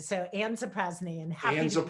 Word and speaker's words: Zaprazny: We just make it easy, but it's Zaprazny. So Ann Zaprazny, and happy Ann to be.